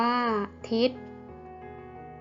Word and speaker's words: ทิศ: วิทยุ อ่าน ว่า วิทยุ ทิศ อ่าน ว่า ทิศ อำนาจ อ่าน ว่า